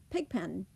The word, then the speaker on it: pigpen: Now say the compound word pigpen. We say pen. We do not swallow those 2 letters, those last 2 EN letters.